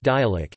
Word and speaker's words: dialect: It is referred to locally by terms such as dialect, pronounced dialect, Anguilla talk or Anguillian.